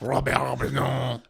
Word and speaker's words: Bresson: Robert Bresson. Robert Bresson. Bresson. Bresson. You gotta cut it off. They like cutting off those ends.